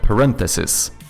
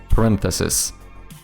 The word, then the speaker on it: parenthesis: Like we had a word recently which I mispronounced because I kept doing the Swedish emphasis which was parenthesis, right? No. Um, parenthesis, that one, the singular one. Parenthesis par I hate that word.